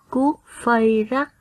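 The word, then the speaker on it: Cuốc-phây-rắc: Garrot, Anjolra, Cuốc Phây Rắc.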